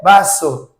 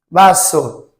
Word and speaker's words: vaso: Então, eles falam com quase um sonzinho de B. O som é para dentro.